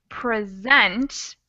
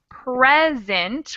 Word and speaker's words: present: we're talking about here has the the stress on the second syllable so it's present to show present your passport okay instead of the other version which is present when it has the accent on the first syllable it means gift so we've got present